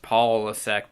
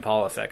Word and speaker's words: Polasek: they spell out that it's pronounced Polasek. So I realized that was spelled out just for you and I, the SEC grads. We should be able to say Paul.